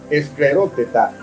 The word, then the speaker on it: escleróteta: Para los que llevan anotaciones, esta palabra se escribe con S en comienzo, no con S, sino con S, escleróteta, y no se escribe con C, sino con K de kilómetro. Escleróteta, y tiene acento en la A.